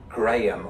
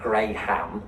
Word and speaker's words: Graham: I hope there are some people called Graham watching because it's most decidedly in my pronunciation Graham, not Graham, Graham. Graham. All one vowel Yeah.